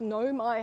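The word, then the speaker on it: Nau mai: it is it says no my haremai which means welcome to so it means welcome to the flagship no my hadimai like yeah yeah yeah so the au is pronounced oh no my hair my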